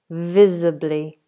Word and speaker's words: visibly: Vehicles vacate visibly. And that is a zed sound.